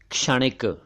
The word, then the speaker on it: क्षणिक: उच्चारण देखिए, क्षणिक, क्षणिक नहीं। ऐसे ही पहले क्षण नहीं था, क्षण नहीं था, वैसे ही ये क्षणिक नहीं है, क्षणिक नहीं है, बल्कि ये क्षणिक, क्षणिक है।